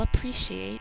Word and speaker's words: appreciate: So even though we hear 2 P's in spelling, we only say 1 in normal speech.